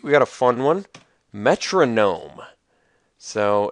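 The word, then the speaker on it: Metrognome: so this is a it's spelled me t r o g n n o m like gnome like a little gnomish creature like a dwarf or something like that um not a metronome like m o n o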